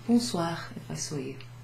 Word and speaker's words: bonsoir: O and I together, O-I, makes a wa sound, a kind of wa, oo, wa. This O-N is sort of pronounced on. We don't really have that exact sound in English, but you'll get used to it.